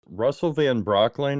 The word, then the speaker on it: Russell Van Brocklen: Joining me today is Russell Van Brocklin. Is that how you say it? Yes. Thank you for pronouncing it correctly.